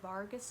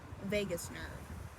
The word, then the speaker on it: vagus: once it crosses the Vargas nerve it's not Vargas it's Vegas I thought I saw